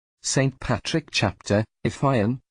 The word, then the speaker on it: Fionn: Patrick chapter if I am pronounced to rhyme with June got his first training